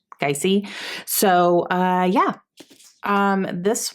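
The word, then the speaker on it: Gyasi: is by ya geisey I looked up how to say her last name and you're supposed I guess you're supposed to announce it the first like sound is guy guy see so uh yeah um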